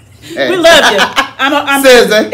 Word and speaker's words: SZA: Is that how you pronounce it? SZA.